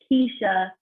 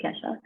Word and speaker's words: Kesha: kickstart video she's like most people say it's not keisha not ketchup it's kesha it was kind of